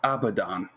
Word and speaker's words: Abaddon: Yes, it's pronounced Abaddon.